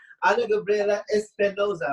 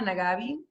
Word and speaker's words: Anagabriela Espinoza: Anagabriela Espinoza, right? I am saying it right. Really. Very good, Amir. For short. Yes. Perfect. Because there's a different intonation of pronunciation in Mexico. So hola. You did it really good. You can call me also Anagabriela, Anagabi. Both of them are correct.